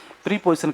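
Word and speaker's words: preposition: पूरा स्पोर्ट एकदम नरेशन कथन होता है आपका, ये प्रेपोजिशन है। प्रीपोजिशन कहते हैं, अपन नॉर्मल की भाषा में पढ़ते हैं, प्रीपोजिशन नहीं होता है, शुद्ध उच्चारण इसका प्रेपोजिशन होता है।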